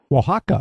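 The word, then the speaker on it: Oaxaca: Oax Waka. Waka.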